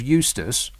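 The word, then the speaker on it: Eustice: norway the environment secretary george eustis which rhymes with useless i'm just saying that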